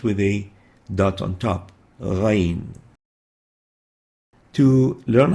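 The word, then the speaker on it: غين: It's like the ayn, but with a dot on top of it. It has again no English equivalent. It's like a gargling sound, pronounced like a gargling sound, and it articulates at the mid-throat, and that's why it is classified as a glottal throat letter, and it's called ghayn,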